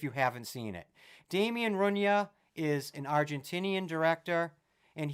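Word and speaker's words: Rugna: he's an Argentinian director I believe it's pronounced Damien Runa r u GNA a well that will be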